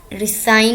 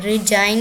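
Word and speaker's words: resign: रिसाइन होता है, रिजाइन नहीं होता, रिसाइज नहीं होता, रिसाइजन या पता नहीं क्या ही बोलते होंगे अगर जी ना हो, जी साइलेंट ना हो।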